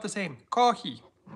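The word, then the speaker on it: コーヒー: And then a Japanese person will say kohi. I'm like, wait a second, that sounds a lot like coffee. No, kohi. It's like, okay, sounds pretty much the same. No, it's not the same. Kohi.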